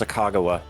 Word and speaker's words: Sacagawea: According to my 5th grade teacher, it's pronounced Sacagawea.